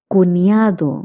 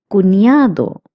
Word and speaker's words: cuñado: Cuñado means brother-in-law. Cuñada means sister-in-law. Notice that the N with the curly line is pronounced as ña, as I have also told you in previous classes. Cuñado means brother-in-law.